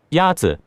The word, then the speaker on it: 鸭子: Is it 鸭子？鸭子 is pronounced with a first tone. In Mandarin, there are 4 tones, which are essential to distinguish the meaning of words.